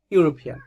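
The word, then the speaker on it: European: একজন ব্যক্তিকে দেখতে পাচ্ছি, সেই ব্যক্তিটা ইউরোপিয়ান।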